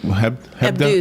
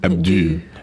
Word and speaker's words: Hebdo: But they pronounce the O like a U, like two O's, like ooh, like Hebdo. Hebdo, Charlie Hebdo.